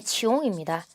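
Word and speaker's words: 穷: 중국 발음이 치용입니다. 한자 발음은 궁입니다.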